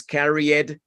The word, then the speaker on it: carried: realidad la E del ED no suena. ¿Se dieron cuenta? No suena. O sea que no es carried y no es placed. Ojo con eso. Carried, placed.